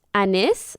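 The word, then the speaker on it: Anys: looking it up it's a Ys pronounced Anice but very close to anus so I'm an yeah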